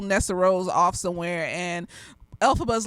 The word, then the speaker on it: Elphaba: So if you come on here and be like, oh, it's not pronounced Elphaba, it's pronounced Elphaba.